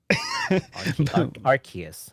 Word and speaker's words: Arceus: Arceus.